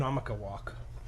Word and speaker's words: Oconomowoc: It's just a difficult word to Oh, pronounce. Oconomowoc.